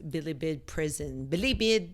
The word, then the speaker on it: Bilibid: A correctional facility in Manila known as Bilibid Prison. My mom does not like the way I say Bilibid. It's Tagalog word. She's all like Bilibid. I mean, the emphasis on the wrong syllable.